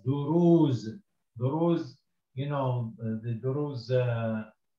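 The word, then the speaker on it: دروز: And this the ra, it's got dhamma and the waw to elongate it, so it's duru. And the last letter here is a za, so you can read this as duruz.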